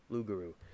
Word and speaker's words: loup-garou: derived belief in the I'm probably going to say this wrong, Lugaru. Y'all can tell me what it really is. And it says pronunciation Lugabu. Lugaru. Right. Loup is the French for